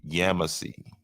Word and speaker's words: Yamasee: in over in near Walterboro called uh they pronounce it yamasee right and in 1715 in the town that